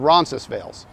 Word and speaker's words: Roncesvalles: doesn't really matter because even though this street is named after a place in Spain we don't pronounce it that way in Toronto it's called Ronis veils or you can just